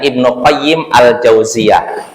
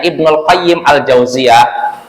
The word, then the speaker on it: Ibnu Qayyim Al-Jauziyah: Jadi Bapak cara bacanya Ibnu Qayyim Al-Jauziyah. Al-Jauziyah ini nama madrasah. Ya, Ibnu Qayyim Al-Jauziyah. Nah, kalau mau tanpa disebutkan Al-Jauziyahnya berarti bacanya Ibnul Qayyim gitu. Maka kalau ada yang bacanya Ibnul Qayyim Al-Jauziyah berarti dia tidak paham bahasa Arab. Yang benar Ibnul Qayyim atau Ibnu Qayyim Al-Jauziyah gitu.